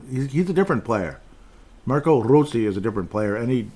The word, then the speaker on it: Rossi: See, we can't say Rossi, or we can't say Rossi. You have to say Rossi or just Rossi. Otherwise, it's just, he's tired of you guys mispronouncing it, damn it. So just say Rossi.